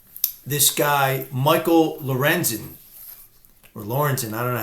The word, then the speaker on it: Lorenzen: the same game this guy Michael Lorenzen or Lawrence and I don't know how you say his name I got this right yeah Lorenzen the pitcher for the Phillies no hitter same